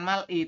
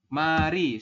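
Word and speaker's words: 말이: jadi nanti Anda membacanya bukan mal i tapi berubah menjadi jadi apa? Mari seperti ini Robun ya.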